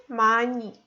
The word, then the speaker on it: 많이: And the last one example is 많이. We don't read this H, we read just 만 plus E. So we have to read it like 많이.